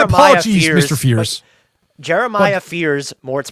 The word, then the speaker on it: Jeremiah Fears: Jeremiah Fierce. Oh, God. Yeah. Sorry about that. Jeremiah My apologies, Fierce, Mr. Fierce. Jeremiah Fears Mort's pronunciation of his name.